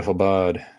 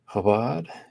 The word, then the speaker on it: Chabad: Chabad? Yeah, and if I pronounced it wrong at first. Same with Chezi. So the CH is strange for English speakers. Chabad is a good website,